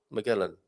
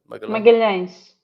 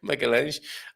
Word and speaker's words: Magalhães: Have I pronounced that correctly, Gilda? Magellan. Magalhães. Magal. No, I didn't. Magalhães. Okay, Magalhães.